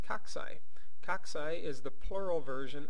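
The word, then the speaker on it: cocci: bacteria cell the picture on the left is pronounced coxy coxy is the plural version of many spherical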